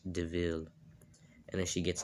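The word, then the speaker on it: De Vil: And then her friend's like, yeah, it's spelled devil, but it's pronounced DeVille.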